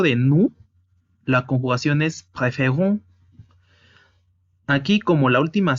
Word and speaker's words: préférons: préférons. La sílaba tónica es on.